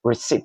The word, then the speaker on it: receipt: reset not uh receipt receipt because the p is silent move to the next